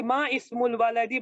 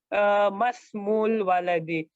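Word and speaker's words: ما اسم الولد: It is actually ma ismul waladi, but we will say masmu waladi. This is hamzatul wasal. We don't pronounce it. We say masmul waladi.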